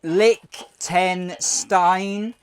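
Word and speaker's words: Liechtenstein: need after consuming this McDonald's um it's actually pronounced Lick Lick ten Stein and along with Luxembourg it has one of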